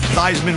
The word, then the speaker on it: Theismann: he changed his name from C's Minh the Theismann around with Heisman when he was at Notre Dame the perception that is associated with that could turn some people's stomachs I get it Heisman rhymes with Heisman even though his name was Steve